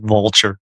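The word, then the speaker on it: Vultr: And there's another one called, and I I don't know how you're supposed to pronounce this, but it's I pronounce it vulture.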